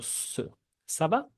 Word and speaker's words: ça va: Como dijimos, tenemos el saudance, si ven una ced esa pequeña cosa que está abajo de la letra C, tenemos que pronunciar el sonido ça va.